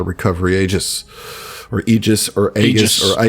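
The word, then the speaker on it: aegis: is why it's called a recovery AIS or egis or Aus or a it's egis it's it's a it's it's you don't get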